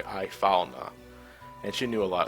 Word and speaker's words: Ifalna: I want to pronounce the I separately, Ifalna.